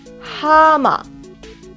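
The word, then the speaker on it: 하마: H or look at the next word guys hama ha ma Hieut has combined with a ha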